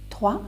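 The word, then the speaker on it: trois: 3, S is silent. You just say 3. You don't pronounce S, which is at the end, right?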